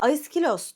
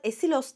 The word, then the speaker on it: Aiskhylos: Aiskilos diyorum ismine. Fakat esilos diyenler de çok fazla. Esilos aslında bu kelimenin İngilizceye biraz daha benzer ve İngilizcede daha kolay telaffuz edilen hali. Oysa Yunanlılar daha çok aiskilosa, bu söylediğime benzer bir şekilde telaffuz ediyorlar.